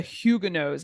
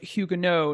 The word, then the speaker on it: Huguenot: you today about the huguenots now if you're like me I recently learned that it is pronounced hugu no not Huguenot and it is the